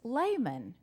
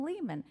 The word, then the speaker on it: Layman: called him i'm like i've been saying his name wrong for two years it's layman and people i even hang around with we all called him lehman so just fyi it's